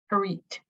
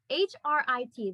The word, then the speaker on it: Hrit: And how do you say this? Harit. H-R-I-T, the Hrit chakra.